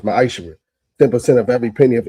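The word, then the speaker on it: מעשר: verse 8 through 10 means tithe in Hebrew and it's pronounced ma'aser.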